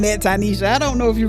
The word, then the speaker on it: Tinesha: Well, today I have the honor of speaking to Tanisha. Thank you for pronouncing my name correctly.